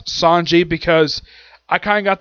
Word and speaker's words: Sanji: They pronounce it CG. I pronounce it Sanji. It's a different pronunciation, but it's spelled the same.